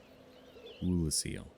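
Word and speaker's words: Oolacile: for I am one with the Sorceress of uraseel ruler seal that's how you pronounce it repair powder ooh that is nice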